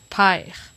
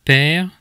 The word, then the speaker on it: père: In Quebec French, we have père. In Metropolitan French, it's père.